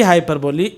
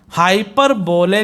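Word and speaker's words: hyperbole: हाइपरबोली, हाइपरबोले नहीं बोलेंगे, हाइपरबोली pronunciation है इसका।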